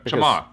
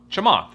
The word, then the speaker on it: Chamath: Ch a is pronounced chai like chai latte. Okay. Oh, it's chai. That's right. Chimath. Chimath.